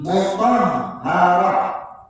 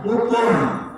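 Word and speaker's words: مطهرة: Nah, tenggorokan tapi bagian atas. Toh. Mutahharah, tidak mutor.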